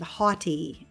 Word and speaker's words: haughty: vocabulary word number five haughty and this sounds like a h-o-t-t-i-e but it has a different meaning it's the same it's